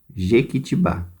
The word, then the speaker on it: Jequitibá: Vocês vão vir aqui no exercício 1, tem a palavra Jequitibá. A última sílaba é a tônica.